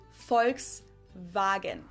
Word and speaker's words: Volkswagen: and not volkswagen so just imagine that it was spelled with an f and v instead folks wagon so as you can